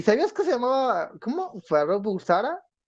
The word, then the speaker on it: Farrokh Bulsara: ¿Y sabías que se llamaba, cómo, Farrokh Bulsara? Y te quedas de, oye, amigo, tranquilo, relájate. Pero pues aún así. Ya me regañó el jefe. Farrokh Bulsara. Así lo pronuncié bien.